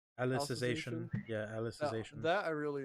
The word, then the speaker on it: Alicization: I don't know how to say it as alexization alicization yeah alicization that I really enjoyed that was